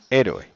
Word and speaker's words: héroe: vale por ejemplo en héroe héroe es así h roe y esdrújula y lleva tilda e ro e vale otra que tenga